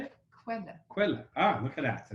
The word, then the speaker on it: Quelle: Quelle.